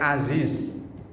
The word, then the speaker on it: Aziz: artinya berlawanan misalnya kayak Aziz Aziz Ain Za ya Za Aziz itu artinya perkasa tapi kalau Za yang tengah diganti huruf ja huruf Jim jadinya Ajis itu artinya loyo apa